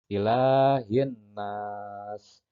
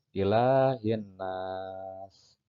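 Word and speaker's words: إِلَٰهِ النَّاسِ: Maka dibacanya melebur. Yaumiddin. Kemudian contoh yang kedua ilahin nas. Nah, yang jadi contoh adalah alif lam menghadapi huruf nun atau dengan sebut huruf samsiyah. Maka dibacanya dengan melebur. Ilahin nas.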